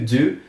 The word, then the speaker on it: do: sobre o verbo To Do ele se escreve de o mas nós pronunciamos com o som de u com aquele biquinho sabe então fica do do o verbo To Do